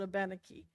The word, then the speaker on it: Abenaki: Keene we pronounce it a baniki I'm told it's an older uh version of pronunciation and it just comes